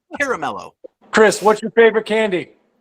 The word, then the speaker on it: Caramello: I wish I had a Carmelo right now. I'd eat it right in front of your face. Caramello, people. Say it right. Caramello.